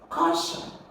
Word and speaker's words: caution: Caution is a noun, alright? Because it's not an action. Caution is like an instruction. So you're going to stress the first syllable. You're going to have caution, alright?